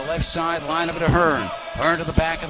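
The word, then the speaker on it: Hohn: Again, Hearn spells it H-O-E-H-N, the gifted 6'2 senior, who averages 16 points a game, but he pronounces it Hearn.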